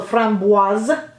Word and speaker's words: Framboise: Then we have Framboise, actually. One of my French-speaking subscribers told me to stick a Z on the end, so Framboise.